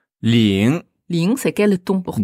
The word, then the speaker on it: 零: Alors, L-I-N-G. Attention, c'est pas... Ling. non, Ling. pas ling ou lang. Donc, c'est ling. Ling. Donc, lin. Mais vous enlevez le E à la fin et vous nasalisez un peu tout ça.